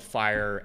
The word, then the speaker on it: FHIR: here is f is for fast right and it's spelled fire fhir so I don't know why all these